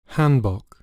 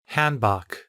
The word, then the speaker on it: Hanbok: Hanbok. Hanbok. 영어는 이제 A 발음을 거의 hand로 하기 때문에 영국에서는 한이라고 하는 것 같고 발음이 거기서 좀 차이가 나는 것 같습니다.